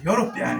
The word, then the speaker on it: European: So the word European is pronounced as European.